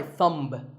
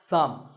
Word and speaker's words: thumb: this is my thumb it's not my thumb it's pronounced thumb and what about this